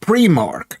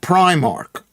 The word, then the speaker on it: Primark: It's pronounced preark not primark.